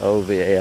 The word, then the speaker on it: Ovar: over yeah all right pronounce it OVA are really nice place